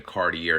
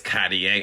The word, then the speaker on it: Cartier: They're like, "Oh, you ain't saying it right. It's Cartier." I'm not. I'm not changing my lip motion and all these syllables and these antonyms and synonyms to say a word. It's Cartier to me.